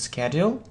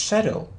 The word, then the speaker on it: schedule: So some people say that it's schedule, and some people say that it's schedule. So which is correct? Which answer is correct? So it can be schedule or schedule. So it's a matter. It's again a matter of British or American pronunciation.